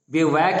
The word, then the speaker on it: bivouac: और in the bivouac of life, bivouac, इसका pronunciation कायदे से सीख लो, bivouac, स्पेलिंग भी देख लेना इसका, BIVOUAC। बिवैक यानी टेम्पररी रेजिडेंस, अस्थाई पड़ाव।